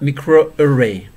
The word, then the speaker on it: microarray: expression profiling using the technique called microarray pronounced micro array micro array analysis micro